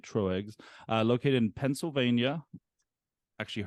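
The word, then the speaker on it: Tröegs: Mad elf it is brewed by troex located I think that's how you say it true eggs uh located in Pennsylvania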